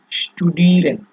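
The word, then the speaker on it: studieren: আচ্ছা, এরপরে হচ্ছে আপনার এস এবং টি বাক্যের শুরুতে হলে এর উচ্চারণটা হবে হচ্ছে আপনার SCH টি, ঠিক আছে, শ্ট, অনেকটা এরকম শ্ট, খেয়াল করেন। যেমন আপনার এখানে দেখেন স্টুডিরেন, ঠিক আছে, মানে আপনার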